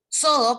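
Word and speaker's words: Xodo: Sodo, que se escribe con X, X-O-D-O.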